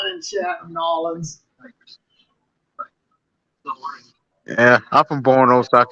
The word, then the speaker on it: New Orleans: And I was like, it's not New Orleans. It's Nolans.